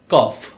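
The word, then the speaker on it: cough: আজকে আমরা জানবো যেমন জিএস জাতীয় কিছু শব্দ আছে যেগুলোর উচ্চারণ ফ এর মতো হয় আবার জিএস দ্বারা এরকম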